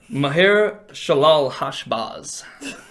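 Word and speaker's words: Maher-shalal-hash-baz: You can cheat next week with the pronunciation of whatever, or not next week, whatever. Maher Shalal Hashbaz.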